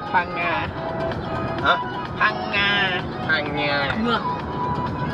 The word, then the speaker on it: Phang Nga: Phang Nga. Phang Nga. Huh? Phang Nga. Phang Nga. There's a letter in the Thai alphabet that's pronounced NG, yeah?